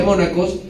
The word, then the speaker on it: monachus: que se llama mónaco se escribe monachus pero se pronuncia mónaco y esto significa quiere